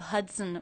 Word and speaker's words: Hudson: River the Hudson river did you notice how the second and unstressed syllable of Hudson was pronounced it's written with the letter O but there's the schah vowel in there as an unstressed syllable it's very fast and when the schah is followed by the n Sound you don't need to worry about making a separate schah sound it gets absorbed by the n Hudson Hudson the